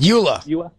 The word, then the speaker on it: EULA: EULA.